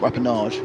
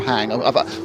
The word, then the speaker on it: Rapang: Oh, not Rappenage. No. Rapang. Well, how have I managed to add a whole extra syllable to that one?